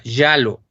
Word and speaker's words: giallo: pronuncio bien, hasta estuve buscando la pronunciación exacta, giallo. Se escribe Giallo y quiere decir amarillo.